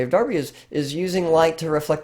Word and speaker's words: Derby: named Joseph Wright of Darby I know it looks like Derby it's pronounced Darby and Joseph right here